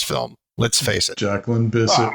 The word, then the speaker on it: Bisset: let's face it jacyn Bisset rhymes with kiss it please please and uh